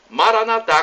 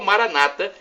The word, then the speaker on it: Maranatha: de Jesus o aramaico Eu Clamo Maranatha como dizemos nós católicos ou Maranata como dizem nossos irmãos separados os evangélicos ou protestantes não importa pronúncia somos todos cristãos irmãos e